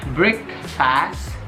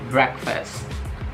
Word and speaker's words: breakfast: Jadi ini bukan breakfast, tapi breakfast, breakfast, breakfast. Ada 2 dan penekanannya itu di break kemudian fast, breakfast.